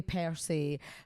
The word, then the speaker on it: per se: Like separate the words a bit.